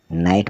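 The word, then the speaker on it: knight: के नॉक मतलब खटखटाना के एन आई जी एच टी नाइट मतलब योद्धा तो इसमें के साइलेंट है फिर हम देखें एल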